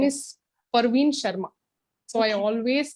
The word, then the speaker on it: Parveen: I always call him Praveen Praveen it reminds me saying that hey it is not Praveen it is you're being an English trainer and you pronounce my name uh in a wrong way that's really really bad